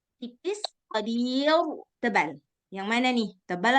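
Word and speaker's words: قدير: Nah, dia baca tebal. Seharusnya tipis, qadir. Gitu seharusnya bacanya.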